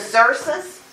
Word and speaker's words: Xerxes: And there are two different ways that one can pronounce this. As a Xerxes, or as a Ahasuerus.